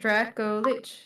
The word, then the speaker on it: Dracolich: Dracolich. Yeah. What? Oh wait, no, you don't, actually. How the fuck are you supposed to say it? Dracolich.